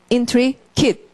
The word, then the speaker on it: intricate: 그래서 강사를 앞에다 놓고 발음 intricate 이렇게 끊어야 되고 intricate은 복잡한 뒤얽힌 여러분 안에 트릭이 있으니까 단순하지가 않은 거죠.